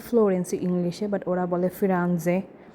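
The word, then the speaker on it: Firenze: সো আমরা বলি ফ্লোরেন্স ইংলিশে, বাট ওরা বলে ফিরানজে। সো আমরা বলি ভেনিস, ওরা বলে ভেনেজিয়া ইটালিয়ান ভাষায়।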